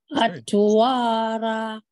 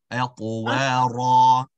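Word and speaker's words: أطوارا: First, the ta should be awesome. Secondly, it's going to be bounced. أَطْوَارًا. Try that last words. أَطْوَارًا. Atwara. Very good. Not ra, but ra. So ra. Atwara.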